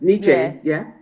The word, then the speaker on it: Nietzsche: Another person, I'm going to try and pronounce his name, Friedrich Nietzsche. Is that correct? Nietzsche, yeah, that's right.